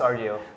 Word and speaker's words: Rdio: uh heads up guys uh how do you pronounce this Rio yeah it's Rio so Spotify rival Rio is finally available in